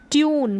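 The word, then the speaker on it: tune: अब यहाँ पर है ट्यून, क्या है, ट्यून, इसको ट्यून और टून दोनों तरीके से आप प्रोनाउंस कर सकते हैं, ट्यून और टून।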